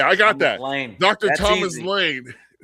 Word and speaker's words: Laehn: Pronounced Lane like LE. Okay, I got that. Dr. Thomas Lane from the great state of Iowa.